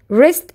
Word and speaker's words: wrist: But we need to know more about our body parts like arm, shoulder, elbow, hand, wrist and W is silent, leg, ankle, foot, head, eye, ears, mouth, nose, tongue, lips, and cheek.